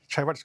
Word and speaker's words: Chaiwat: Chaiwat, do I pronounce it right? Chaiwat's good, yeah.